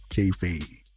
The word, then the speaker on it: kayfabe: Is that how you pronounce it? Let's see it. Yep, kayfabe.